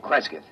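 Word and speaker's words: Cresgyth: as um well, I'll I'll spell it. C R E S G Y T H Kresith. What's that? Local. Well, that's his phonetic interpretation of the name the people here use.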